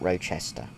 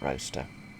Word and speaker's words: Rochester: And to my handful of American viewers, it is pronounced Roster, not Rochester, which is why I called it roaster.